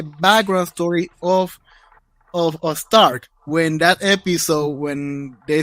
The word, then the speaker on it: Stark: that episode too uh so Stark or Stark because we go with the German pronunciation um so Stark is